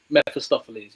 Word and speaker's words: Mephistopheles: It's like Mephistopheles. Have I pronounced that correctly? Mephistopheles, yeah. Thank you.